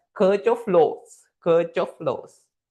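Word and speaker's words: Kirchhoff: The circh of flow they are the spellings but we pronounce that is that as circh of flows.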